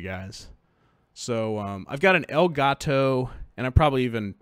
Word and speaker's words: Elgato: so I've got an elgato and I probably even pronounced that wrong it looks like el gato to me that's what should be right it should be like the cat it's an Elgato Game